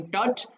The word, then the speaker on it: Tut: इसकी दो प्रोनाउंसिएशन है, टट भी कहते हैं, टुट भी कहते हैं, तो टट में पढ़ूंगा।